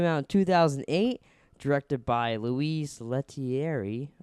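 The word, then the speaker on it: Louis Leterrier: It came out in 2008, directed by Louise Leterrier. I believe is how you say their name.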